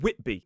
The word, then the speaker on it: Whitby: But when it is a suffix at the end of a place name, it's pronounced B. So we have Derby, Grimby, and Whitby.